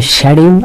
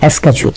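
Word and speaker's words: schedule: শিডিউল, এখানে খেয়াল করতে হবে যে উচ্চারণ দুইটা আছে, আপনারা জানেন। একটা হচ্ছে শিডিউল আর একটা হচ্ছে স্কেডিউল। সো শিডিউল হোক আর স্কেডিউল হোক, যেটাই হোক না কেন উচ্চারণটা শিডিউল নয়।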